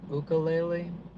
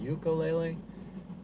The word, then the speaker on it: ukulele: So, from my understanding, it's it's uh pronounced ukulele. You know, I grew up hearing ukulele, but and that's how most people around here say it.